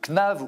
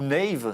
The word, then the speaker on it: Knave: Vous êtes le fondateur de Knav ou Nave, ça dépend comment on veut le prononcer.